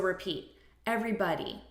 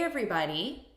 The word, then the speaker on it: everybody: they're very different so repeat everybody everybody and look at the syllable stress here everybody so we're stressing the first syllable everybody hey everybody repeat hey everybody another